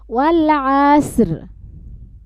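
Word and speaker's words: والعصر: ওয়াল আসর। ওয়ালা আস। ওয়াল আস দিয়ে রটা উচ্চারণ হবে শেষে, হ্যাঁ?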